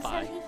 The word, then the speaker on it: Fi: I used to say Phi like a Greek letter, but then in Hyrule Warriors they pronounce her name Phi.